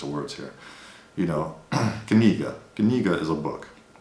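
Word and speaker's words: книга: So imagine you're pronouncing the word knee like it's written, kni.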